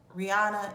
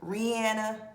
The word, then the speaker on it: Rihanna: Kind of like how people keep calling her Rihanna and it's Rihanna because she said that multiple times in interviews.